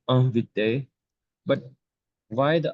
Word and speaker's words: inviter: And when a verb ends with ER, it's pronounced E. Invité.